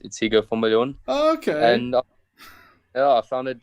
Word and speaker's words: Higgo van Biljon: Higgo van Biljon. I know most people think it's Higgo, but it's spelled a bit differently. So it's Higgo van Biljon.